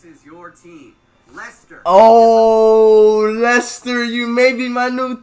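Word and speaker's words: Leicester: talk about lester and yes it is pronounced lester i know that's too stupid they spelled it like lychester and then they think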